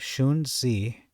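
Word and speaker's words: Xunzi: the more conservative uh how do you pronounce that shuni is that X pronounced as a sh I think it's a sh anyway the more conservative shun Z writing not much later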